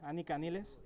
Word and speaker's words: Anika Nilles: Estamos con Anika Nilles. Is that how you pronounce it? Yes. Yeah? Yeah, it's the German way to say it.